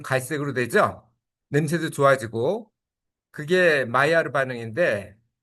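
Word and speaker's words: Maillard: 냄새도 좋아지고 그게 마이아르 반응인데 어 마이아르가이 M L드 마이알드로 보이는데 마이아르로 발음한 이유는이 사람이 프랑스 사람이에요. 프랑스 과학자인데 원래는 체내에서 발생하는 어 현상이었다고 합니다.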